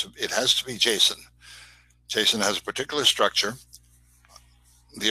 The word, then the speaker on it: JSON: instead by the way json i've told i pronounce it but then i heard a guy the guy who invented it speak at a conference and he calls it jason so it's jason now when you return data